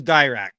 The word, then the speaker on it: Dirac: Dirac. Sorry, Dirac. Yeah. Dirac. All right, let's start again, and we'll use Dirac.